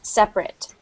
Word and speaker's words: separate: fountains, that would be, you wouldn't pronounce the A like that. You would pronounce it like separate.